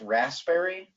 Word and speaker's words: raspberry: I can't spell raspberry the p is silent there's no such thing